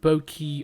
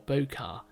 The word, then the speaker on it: bokeh: also a full-time educator bouquet or some people may pronounce it boki or bokar it's a japanese word and actually it's a